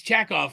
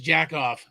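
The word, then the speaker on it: Chekov: It's Chackoff, but I might have mispronounced it as Jackoff.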